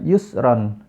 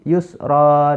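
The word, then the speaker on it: يسرا: Ini Hai Yusron jadi Yusron huruf ro ini di akhir dia berharakat fathah Tain Hai tapi karena dia menjadi di akhir ayat dia bacanya bukan Yusron tapi Usro dibaca Dua harokat Hai Inna ma'al Usri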